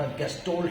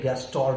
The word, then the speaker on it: Gestalt: अलग अलग प्रोनाउंसिएशंस होती हैं, इंडियन अलग स्टाइल से करते हैं क्योंकि ये एक जर्मन नेम है।